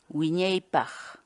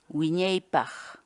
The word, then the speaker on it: Wiñaypaq: series videos where we teach you how to pronounce certain words in Quechua. So our word of the day for today is Wiñaypaq. Wiñaypaq. Wiñaypaq.